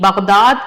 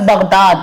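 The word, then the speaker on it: बग़दाद: किसी और ने नहीं, बगदाद के पहुंचे हुए आलिम ने बताई है। उनकी बात गलत नहीं हो सकती। इसने क्या कहा कि बगदाद के आलिम ने, अब देखिए लफ्ज बगदाद, गैन का तलफ्फुज गलत, ये जो उच्चारण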